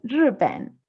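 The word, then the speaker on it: 日本: que es Ripen, Ripen.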